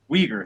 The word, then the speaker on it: Uyghur: Let me know if I mispronounced this. Uighur? Uyghur. Uyghur. Uyghur, thank you.